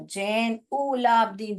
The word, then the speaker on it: जैनुलाब्दीन: जैन लिखिए, यू को ऊ करके पढ़िए, फिर लाभ लिखिए, जैन उ लाभ दीन, ऐसे स्पेलिंग डिवाइड करके पढ़िए तो याद आ जाएगा। जैन उलाब्दीन, जैनुलाब्दीन। ओके।